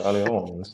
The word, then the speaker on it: Allianz: Because it's spelled Allianz, like ALL, but I like Googled it to have them respond, like to have it said to me, and it's Allianz, and I think it's French.